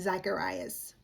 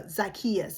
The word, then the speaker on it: Zacchaeus: The first team is Jesus and Zachcharias. Oh no, Zakius. I'm sorry, I mispronounced his name.